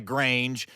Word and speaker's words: grange: He lived on a farm, on a grange, which is an old word for farm, and the only reason I use it is because it rhymes with range.